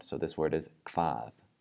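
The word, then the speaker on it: hvað: The HV combination is not pronounced hv, it's pronounced kv with the KV sound. So this word is kvað, kvað.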